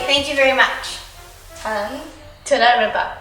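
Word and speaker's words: תודה רבה: Toda Rabba.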